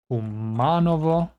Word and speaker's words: Kumanovo: By the way, in Macedonian, stress is always on the antepenultimate syllable, so the third syllable from the end, unless the word is shorter than that, in which case it's the first syllable.